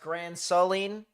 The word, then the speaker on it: Grand Saline: This is, someone said it's pronounced Grand Saline.